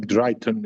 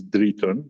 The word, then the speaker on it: Driton: Uh so as was said, Dritan is my name. Drayton is usually English uh pronunciation, but the real pronunciation is Dritan, d r i t o n.